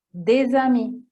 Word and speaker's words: des amis: Se c'è un determinante e un sostantivo si dovrà obbligatoriamente fare la liaison, come per esempio des amis, dovete attaccare, è proprio una regola.